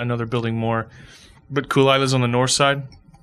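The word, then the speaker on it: Caol Ila: But Kulila's on the north side. Kulila is another pronunciation. That's what he called it, Kulila thing.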